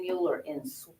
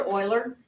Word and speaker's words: Euler: his name was leonard euler and his name is spelled e-u-l-e-r and it is not euler you will definitely expose your ignorance if you pronounce his name mueller and he's a swiss guy and it's pronounced